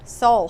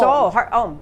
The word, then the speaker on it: Soule: Soule, heart and soul. Soule, okay, heart and soul.